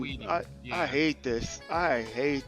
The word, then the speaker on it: Saweetie: That's how you pronounce that? Yeah. Sweetie? Saweetie? Oh, Saweetie? Dang, man. Saweetie.